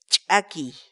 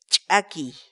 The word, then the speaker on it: ch'akiy: series videos where we teach you how to pronounce certain words in Quechua so our word of the day for today is tacky tacky tacky in English the Quechua word a key means